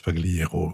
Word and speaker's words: Pagliero: en l'occurrence uneun Milia paliero ou Pagliero je pense qu'ici on prononce Pagliero quoi qu'elle soit Argentine et donc qu'on y prononce à la à l'italienne elle est dans ces